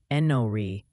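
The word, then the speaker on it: Enoree: Oh, and the pronunciation Posi wants you to know that place in South Carolina is apparently Enori.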